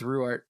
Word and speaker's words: Ruwart: Yes, yeah, She's Ruwart.